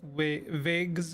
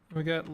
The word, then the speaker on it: Weg: There are two Wegs in German. With the longer E sound, it's a noun for path, road. The other pronounced Weg is an adjective used for something, someone having left, disappeared, been lost.